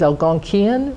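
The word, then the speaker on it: Algonquin: language as alonquin and in New England we often pronounce it as Al gonan with a K rather than a q their name for themselves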